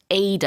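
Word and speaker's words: Ai-Da: I think her name is pronounced Ada. I could be wrong, but Is as it you said, Ada?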